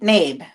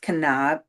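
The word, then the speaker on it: Knabe: with um Mary navy nab k n a be e. For the longest time I thought it was canab canabi but it's the k is silent.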